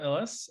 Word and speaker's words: Illes: also in social approaches uh your surname pronunciation give us that also sure hi everyone my name is ellis and i am the vp of people at